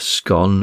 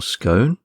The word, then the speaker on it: scone: various articles on it in the US scon tends largely to be the preferred term while in Britain it tends to be scone.